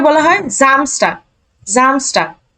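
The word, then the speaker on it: Samstag: Saturday কে বলা হয় জামস্টার জামস্টার এই যে এস বর্গীয় জ এর মত উচ্চারণ হবে শুরুতে আছে জামস্টার আর কোন কথা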